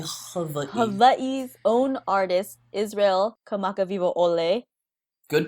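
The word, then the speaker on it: Kamakawiwoʻole: Hawaii's own artist, Israel Kamakawiwo'ole. Good pronunciation.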